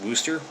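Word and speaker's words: Worcester: clark university in uh it's spelled worchester massachusetts but i think it's pronounced wooster after a biologist named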